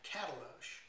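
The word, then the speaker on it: Katalox: If you're going to be doing a wood like this, which is called cataloche, it's spelled K-A-T-A-L-O-X.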